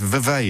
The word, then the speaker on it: Vevey: you found Andrews in I don't know how to pronounce the survey invades I know it's in Switzerland it says so on the screen it's Vevey in Switzerland um Andrew what would